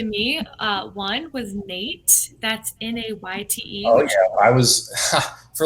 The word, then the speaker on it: Nayte: I was like, oh, it's just Nate. Yeah, it's just Nate.